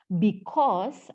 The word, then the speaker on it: because: Adalah because, masih kedengaran kata U. Julieta masih mau bilang because. Not because, tidak ada huruf U. B dan kos, kayak kos-kosan gitu loh.